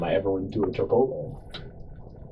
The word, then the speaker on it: Chipotle: And my roommate was just like, "You it's Chipotle." You know, I was like, "You know what? No, it's spelled that way."